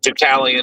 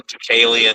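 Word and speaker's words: Deucalion: Um, Dalian, Ducalian, you know, it could be pronounced either way.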